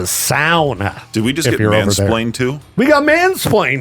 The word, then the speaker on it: sauna: He says they call it a sauna. And so we pronounced it wrong, and they're different because they have showers in them. So I just wanted to correct our mistake. It's a sauna.